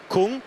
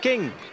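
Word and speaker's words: Küng: of it n g so as English speakers you are drawn to saying Kung he says himself it's pronounced King which makes it easier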